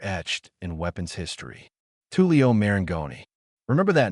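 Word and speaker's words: Marengoni: Tulio Maranggoni. Remember that name, folks. And forget the common mistake of Marioni.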